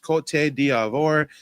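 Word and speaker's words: Côte d'Ivoire: Uh yes, Ivory Coast is like you said, it's pronounced cot diavore.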